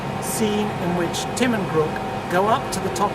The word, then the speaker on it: Grk: I pronounce GR or how you pronounce grook rather and what I say to them is grook rhymes with brook or crook or even book so the grp books